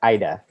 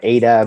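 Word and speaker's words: 間: It's pronounced Aida. Aida. We've heard it pronounced every different way. Aida, Ada, but yeah, it's Aida.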